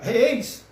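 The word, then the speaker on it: εἰς: A preposição grega reis, que é assim que se pronuncia, traduzido por para, em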